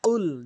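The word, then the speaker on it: قُل: এটা কুল বলবেন। কখনোই কুল বলবেন না। কুল জিহ্বার গোড়া উপরে তালু থেকে কফ উচ্চারণ করবেন।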